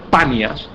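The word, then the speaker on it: Paneas: banias se llama banias en realidad el nombre correcto es panas pero los árabes no pueden pronunciar la p los árabes no saben pronunciar la p el árabe no te dice pan dice B el árabe no dice Pedro Dice Pedro y de la misma manera el árabe no dice panas sino dice banias y por eso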